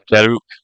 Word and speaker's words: jeruk: I kind of missed the R because I'm American, so we don't pronounce R's occasionally.